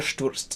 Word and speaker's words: stürzt: So going back to Ihr stürzt nieder, one not particularly special quality, but something to note is the pronunciation of the word stürzt, which is Sturz with a TS and then a T.